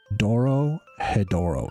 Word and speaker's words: Dorohedoro: Dorohedoro.